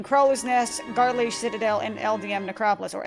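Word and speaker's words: Eldieme: LDM Necropolis or LD is it is it LDM or LDM Necropolis? I've never been able to figure that out. I've been pronouncing so many things in this game wrong for so many years, but who cares? It's LD Necropolis.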